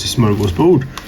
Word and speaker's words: smörgåsbord: Actually, we had Christmas party, Christmas dinner, Christmas julbord, Christmas smörgåsbord, Christmas smörgåsbord. Smörgåsbord is how you're supposed to pronounce that word if you want to borrow it.